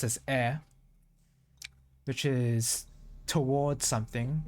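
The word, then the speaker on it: へ: a particle there's knee um hair but it's pronounced as air which is towards something it's a bit different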